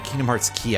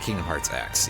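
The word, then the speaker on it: Kingdom Hearts χ: Anyway, Kingdom Hearts, uh Kingdom Hearts key, I think would be the pronunciation on that. Not Kingdom Hearts X.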